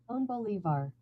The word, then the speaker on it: Simón Bolívar: Oh, Simone Bolivar. Simón Bolívar. Simón Bolívar. Bolivar. Yeah, the tilde, it is over that.